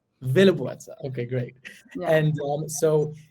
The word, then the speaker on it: Willeboordse: Did I pronounce the name properly? Almost, yes. But even I struggle still. But it's Willeboordse. Willeboordse.